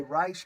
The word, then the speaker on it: Reich: the way I say rice because Steve rice changes changed the pronunciation of his last name from Reich to rice because of the Third